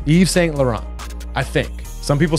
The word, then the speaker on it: Yves Saint Laurent: ready that's what now the way this is spelled is yiver's Saint Laurent though but I think it's pronounced Yves Saint Laurent I think it's how it's pronounced Yves Saint Laurent I think some people